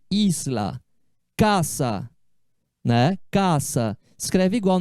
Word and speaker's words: Isla: Olá esla o Lair pronuncia como no português a palavra que eu trouxe como exemplo aqui ó Isla significa Ilha essa palavra é que tem um s aqui né Isla o s sempre atenção DS em espanhol é